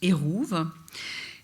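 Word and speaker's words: עירוב: mur c'est un erouve ça sortographie comme ça en hébreu ça se prononce Houve il est construit par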